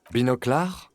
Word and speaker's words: Binoclard: Binoclar? Is that how they do things over at the 41st? No wonder your clearance rate is so low. He pronounces it correctly the French way.